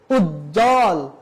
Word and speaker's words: উজ্জ্বল: কোন উচ্চারণ হবে না সেজন্য উচ্ছ্বাস দ্বন্দ উজ্জ্বল এখানে কোথাও ব এর উচ্চারণ হয়নি তাহলে আমরা কয়টা নিয়ম